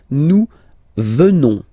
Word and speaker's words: venons: Nous venons. Okay? O-N-S, classical ending for nous. Okay? Final S not pronounced. So O-N, on, venons, venons. Nous venons.